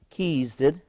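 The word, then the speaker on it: Chesed: And Kezed, that's pronounced K-E/S-E-D. I wanted to say cheese, but it wasn't correct.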